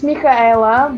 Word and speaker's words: Mihaela: Well, it's Mihaela, but Michaela. Okay. Michaela. yeah, but everybody calls me because it's easier for pronouncing.